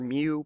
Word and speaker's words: mu: little u greek letter mu pronounced like the pokemon there are no units